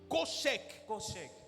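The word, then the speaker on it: חושך: Bible, en hébreu, c'est koshek. Je ne sais pas si je le prononce bien, mais ça s'écrit C-H-O-S-H-E-K. Koshek. Ça se lit koshek.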